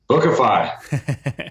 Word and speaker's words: Bookafy: per month so healthy economics from casey casey pronounced the company for me again bookify see that's how you make sure you don't